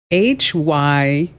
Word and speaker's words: hyperbole: HYPERBOLE. Hyperbole. Not hyperbole. No. Okay. It's not a hyperbole. No. A lot of people say that.